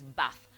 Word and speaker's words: bath: This is bath. And also as, let's just say the bathtub. This is the type of bath that you pronounce with this one, with the voiceless dental fricative.